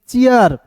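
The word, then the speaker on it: cheer: इसी प्रकार देखिए सी एच का च डबल ई आर, चीर नहीं पढ़ेंगे, इसे पढ़ेंगे चियर, ठीक है।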